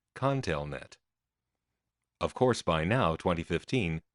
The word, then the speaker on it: ConTelNet: seemed to be under the impression that it was called the continent it wasn't until I was a good way into the research that finally an employee pronounced it Conn tail net of course by now